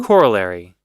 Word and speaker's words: corollary: a smaller theorem and here's the pronunciation corollary Cory all right cool